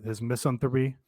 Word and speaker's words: misanthropy: There was a period where I was a little tired of his misanthropy.